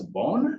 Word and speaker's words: Vaughn: Do you pronounce your second name as Bourne? Is that a correct pronunciation? That that is that is correct. Yep. Yeah. Yeah. Nathan Vaughn and he's an amazing amazing gentleman.